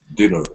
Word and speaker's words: dinner: with a long eye so let me uh write in here dinner short eye okay din Diner and dinner okay all right let's